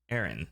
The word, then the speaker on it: Aran: And though his name is pronounced Aranch, the pronunciation of Samus' surname is confirmed to be Aaron. Samis Aaron.